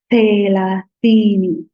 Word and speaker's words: thelathini: So 30 in Swahili is thelathini. Thelathini. So the tongue has to stick out of your teeth. La, thi, ni.